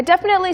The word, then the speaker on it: definitely: 그런데 일반적으로 definitely는 빠르게 발음하죠. Yeah, Definitely. Definitely. Most people say it really fast. Yeah, Like nobody really says definitely. definitely. 네, 그냥 발음을 짧게 definitely, definitely. Definitely. 네, people definitely say definitely, like Definitely. really, really fast.